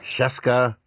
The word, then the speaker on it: Scieszka: Yeah, I stole that from my brother, who ran for 7th grade class president on the slogan, Scieszka rhymes with Fresca.